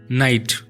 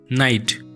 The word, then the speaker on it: knight: Next अछि बहुत confusing word नाइट KNIGHT नाइट एर अर्थ होची सुरवीर बा योद्धा। आ गोटे वर्ड अच्छी नाइट NIGHT नाइट एर अर्थ होची राति। साउंड एका भली करूची किंतु तार स्पेलिंग आ मीनिंग संपूर्ण अलगा।